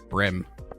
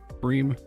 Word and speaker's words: bream: written when i was when two vowels go walking the first one does the talking and it says its own name bream i don't but then